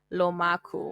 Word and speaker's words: Laku: Za um laku is actually a play on my surname it's my surname syllables just flipped over so laku oh my gosh I